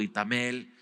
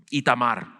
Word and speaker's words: Itamar: Y vamos a ver las responsabilidades que se da a Aarón, Eleazar, su hijo Itamel, o ¿cómo se dice? Itamar, ahí está.